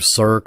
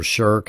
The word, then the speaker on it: shirk: actually got a name cirque or shirk however you want to pronounce it it is the sin